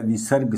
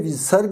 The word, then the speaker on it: विसर्ग: विसर्ग का उच्चारण जो होता है इस तरह से आधे ह के रूप में यानी कि स्वर रहित ह के रूप में होता है।